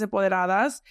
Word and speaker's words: Empoderadas: So Jackie has Latinas Empoderadas. Am I saying it right? Yeah. Latinas Empoderadas.